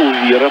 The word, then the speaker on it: Увира: Ударение нужно делать на букве И. Увира правильно произносил фамилия.